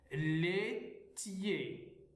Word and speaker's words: laitier: Alors, le troisième son, nous avons IER, on les prononce YE. هذه المتتالية من الكلمات IER ينطقون معا YE. Laitier, céréalier.